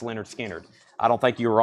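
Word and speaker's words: Lynyrd Skynyrd: Your Leonard Skinner Analog Productions came in, $69.99 for pronounced Leonard Skinner.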